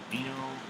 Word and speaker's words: Garbino: I was going to say Barry. Bear. That's how you say his name. Garbino.